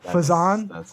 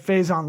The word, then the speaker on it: Faison: four-time emmy award-winning serena fazon did i say it right now yes you did says yes what i call it phase i say it faison like faze on love uh serena phase